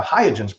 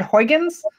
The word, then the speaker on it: Huygens: i'm pronouncing that right it's like a dutch named after a dutch scientist i think but that was a probe that we could i think it's i've heard i've heard huygens huygens okay i'll take